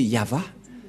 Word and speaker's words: Yahvah: de droite à gauche mais la vraie lecture de ce terme c'est yava je vais vous apprendre